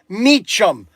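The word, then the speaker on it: Mecum: It could be a popular car that all of a sudden it sells like like for example uh the Meechum Mechum. This the pronounced pronunciation is Meechum.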